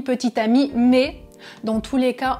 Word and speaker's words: petite amie: petites amies même prononciation petit ami petite amie mais dans tous les